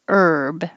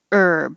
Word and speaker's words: herb: And 34, it has an H in the spelling, but we don't pronounce the H. Just take the H off and say herb.